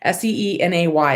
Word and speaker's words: Cine: Cine. That's not it. I seem to remember that when you spelled it out for me, it was Cine. That's it. Seenay is how you spelled it phonetically for me, but I have to